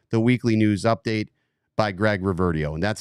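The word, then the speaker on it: Greg Reverdiau: can check out the weekly news update by Greg Reverdio. And that's how you pronounce his name. You heard it here first, Greg Reverdio.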